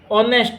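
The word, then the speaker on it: honest: A uniform फिर ऑनेस्ट मैन तो ये एच से शुरू है लेकिन इसको एच साइलेंट रहता है। एच से बोलते नहीं उच्चारण ओ से होता है।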